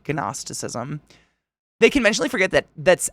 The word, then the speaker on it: gnosticism: what I see in the g is silent okay that's I was trying to say it like agnostic gnosticism Ginos that's a weird word gnosticism they conventionally forget that